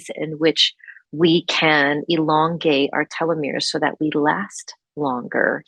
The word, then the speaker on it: telomeres: So telomeres, which are spelled Telomeres, pronounced telomeres.